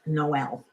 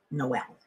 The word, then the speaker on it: Noel: about different names because my younger brother was named Noel. And yes, it was pronounced Noel. Except now he insists that we pronounce it Noel. He doesn't like being associated with the pronunciation of a girl named Noel.